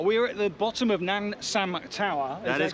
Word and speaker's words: Namsan: We're at the bottom of Namsan Tower. That is correct, yes. My pronunciations are getting a lot better.